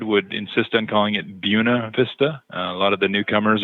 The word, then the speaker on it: Buena Vista: The pronunciation would most definitely be Buena, but that's not really the case here in Colorado.